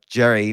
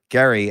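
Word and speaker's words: Gerry: came from Eldridge uh Jerry or Gary as as apparently it's pronounced I didn't know that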